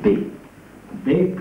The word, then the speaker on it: Bex: j'irai à be quoi Bex se prononce b b comme les moutons moi je lis Bex